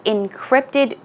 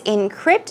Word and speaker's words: encrypt: dialogue that's right was encrypted code the pronunciation is encrypt so the stress goes on the second syllable let's do two times encrypt encrypt it basically means